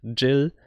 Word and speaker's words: Jill: violinist violinist so that's how you say it Jill I felt you could hear her a lot